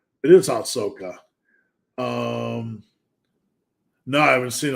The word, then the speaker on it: Ahsoka: BD I'd love to help have you seen aaka season one no is that uh I I just want to make sure I pronounce that correctly it is Ahsoka um no I haven't seen it I'll check